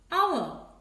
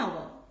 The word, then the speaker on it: hour: The word is beginning with a vowel sound. You know, the letter H is silent. The word is beginning with a vowel sound, hour.